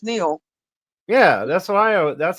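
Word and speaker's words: Neale: don't I know it's it's like our last name it's it's NE e a l e the E is silent and everybody wants to call me neie I don't pronounce anything right NE and I'm like no it's pronounced Neil yeah that's what I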